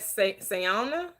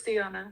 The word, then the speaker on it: Siona: Is that Sayana? Kayana? How do you say it? Hey guys, it's Siona. Siona, hello, how are you?